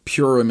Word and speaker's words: Purim: Next week will be the weekend of Purim, or Purim is how some people say it. Purim, P-U-R-I-M, however you pronounce that. I say Purim.